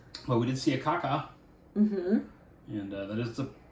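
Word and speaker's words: kākā: But we did see a kaka. Mm-hmm. And that is the proper pronunciation.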